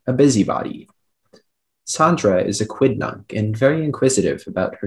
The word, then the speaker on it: quidnunc: or petty things a busybody sandra is a quidnunc and very inquisitive about her neighbors and that's the only pronunciation can i please you have all the